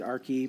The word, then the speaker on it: Archaea: RK a our ki i pronounce it our key but whatever AR CH